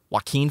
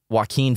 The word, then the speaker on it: Joaquin: They say I say it like the verb, Joaquin Phoenix. Joaquin Phoenix?